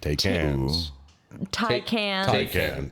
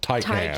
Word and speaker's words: Taycan: we were driving down the road and I saw one of the Porsche Take hands. Taycan. Apparently it's pronounced Taycan.